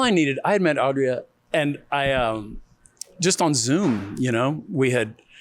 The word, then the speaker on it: Adria: I want to make sure I pronounce her name right. Adria? Adria.